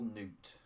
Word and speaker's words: Nuut: the new dragon girl, Nuut. I know how it looks like it's spelled nut, but it's supposed to be Nuut.